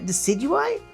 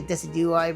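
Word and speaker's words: Decidueye: And for our final one, ooh, nice desi. Decidui. I always I always say it wrong. I say desi, but decidu is what I've heard as well.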